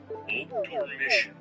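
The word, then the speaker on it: obdormition: Your word is obdormission.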